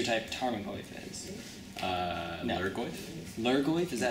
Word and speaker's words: Lurgoyf: Lurgoyf, is that how you say it?